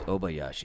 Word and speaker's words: Obayashi: For some reason, I want to throw an N in the front. Obayashi, but it's Obayashi.